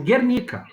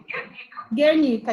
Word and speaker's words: Guernica: do jeito que lê mesmo, Guernica. Guernica, isso mesmo. Esse nome aí, professor.